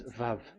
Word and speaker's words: Vav: We called it as VAV. VAV. Your claw, your mouth is like closed. VAV. So it's V as in Vogue. So it's really V.